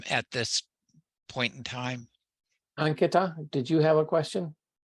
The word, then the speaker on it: Ankita: So it's not Ankita. It doesn't have each syllable is equally stressed. Ankita, right? Yes. So like when you say señorita, so you know how the TA in the señorita is pronounced? So that's exactly how Ankita is pronounced, the last of, at least the last TA sound.